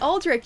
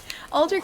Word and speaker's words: Aldrich: done that yet um how La pronounces it is correct aldri yes yeah exactly aldri and Aldrich are both correct um it just depends on the origin of the name that's all uh speaking